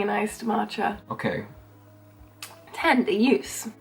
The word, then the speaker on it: ljus: Use, that's what I meant to say. Tända, use. You know, I must say, pronunciation on my part, 10 out of 10.